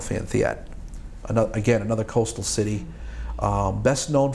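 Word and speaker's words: Phan Thiết: It's Phan Thiet.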